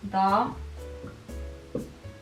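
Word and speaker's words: dağ: a soft g so You never ever start any um word with soft G. It's impossible. This is a bridge sound. Like for example, da. This means mountain. Da da. It's a sound. It's it's silent. It's silent, but it's a bridge.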